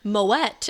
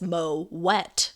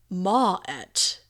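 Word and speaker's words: Moët: way it says surprisingly moet is pronounced with a hard t and not a silent t as is typical for most of the french language you should pronounce moet as mo wet or even ma et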